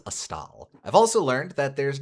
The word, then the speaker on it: Astal: I think I've previously pronounced it Astal, but I learned since last time it is Astal.